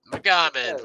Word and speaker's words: Magomed: Magomed.